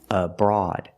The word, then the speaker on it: abroad: you are abroad pronunciation the stress is on the second syllable of Broad and it sounds like broad like Broadway and broadcast and broaden same sound it's the a sound like ball and call a broad the first syllable is relax so it's a short uhuh sound like cup and up uhuh abroad example you can travel